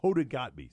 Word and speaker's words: Hoda Kotb: go too hot beat no it's yet is Hoda Kotb sorry Hoda I didn't mean to get your name wrong there just once you get American name